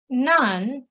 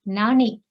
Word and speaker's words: 何: see one more rule when none this kanji plus noun comes then it is nani okay so any noun for example so this is a noun okay it's a name then nani aki de ori maska then it is nani it's not non akira okay there of course